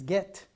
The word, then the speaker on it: get: common words in english what comes after g it's e right we have it here so how do we pronounce this this get get right so is the rule consistent is the rule consistent